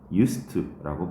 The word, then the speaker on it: used: 한다가 맞습니다 자 그리고 유스트는 이거 발음을 유스트라고 발음합니다 유스트 그래서 뭐 뭐 학원